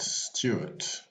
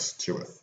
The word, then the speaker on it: Stuart: named gilbert charles stewart so stewart is spelled s-t-u-a-r-t but he was born s-t-e-w-a-r-t so he came from st ward to stuart on this day in 1755